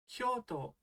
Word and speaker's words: Kyoto: You pronounce it Kyoto.